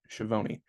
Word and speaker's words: Schiavone: I looked up the pronunciation on that one, Schiavone.